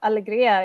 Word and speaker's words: Alegria: to have you here and next we have Alegria am i pronouncing this right yes that's correct hi my